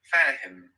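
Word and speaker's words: فاهم: So I would like to mention first that this is a different H. This is more like a H that we have in English, an everyday thinner H, like in the word here. Fahim. So you can think of here and reproduce that sound.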